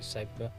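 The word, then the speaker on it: Sedbergh: we're going to have a ride up to segba that's how you pronounce it cyber um it's just a role for me about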